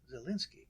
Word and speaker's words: Zalinski: We're going to talk about Edmund Louis Gray Zalinski, right? Right. That's how you pronounce his name.